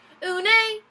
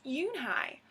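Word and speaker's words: Unhei: girl asked you and I said you know who nay the girl last scrunching up her face who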